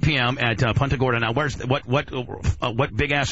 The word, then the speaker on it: Punta Gorda: Is that how you pronounce it? Yes. Punta Gorda.